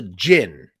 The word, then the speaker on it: Djinn: the Jin and it's it looks like it's spelled D Jin but it's that's actually the D is kind of Silent kind of like Jango like gin that's the how you do it and a Jin is